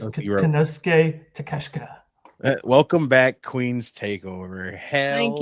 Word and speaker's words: Konosuke Takeshita: Konosuke Takesha. It's Konosuke Takeshita.